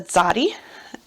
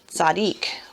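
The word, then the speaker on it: צדי: Some people pronounce it Zadik because it's a righteous man.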